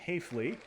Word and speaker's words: Hafley: Jim Hayafley will rhymes with safely.